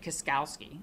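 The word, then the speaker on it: Kuskowski: this is how you say it, Kaskowski.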